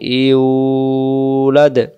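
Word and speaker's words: يُولَدْ: আমরা বলবো ওয়ালাম ইউ, পেশের বামে ওয়াও সাকিন এক আলিফ টান দিতে হবে পেশটাকে, ইউ ওয়ালাম ইউলাদ ওয়ালাম ইউলাদ ওয়ালাম ইউ ইউ ইউ ইউ তো বুঝি ইংলিশে ধরেন ইউ টান দেবেন, ওয়ালাম ইউলাদ লাম ইয়ালিদ ওয়ালাম ইউলাদ,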